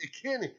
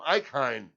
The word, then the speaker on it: Ikhine: It's Ikhine. Ikhine, is it? It's Westbrook Ikhine is how you say it. Uh-huh. Ikhine. I called him Icon.